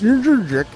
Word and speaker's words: Jędrzejczyk: But it's Jędrzejczyk.